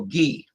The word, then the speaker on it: ghee: They do consume the milk, and they make butter, and then they make clarified butter that they call ghee. It's spelled Ghee.